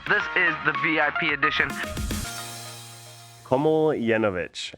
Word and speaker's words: Komljenovic: Komljenovic. It's actually pretty simple if you just simplify it in your head, right? It's Komljenovic, and you make that one long word.